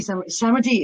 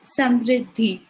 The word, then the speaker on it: Samriddhi: So thank you, Samadhi. Is that the right way to say it, by the way? Could you say your name, please? It's Samriddhi.